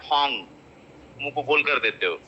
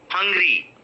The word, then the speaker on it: hungry: happy so the first mistake that you people do is you call it hong kong but that is hungry hungry hungry are you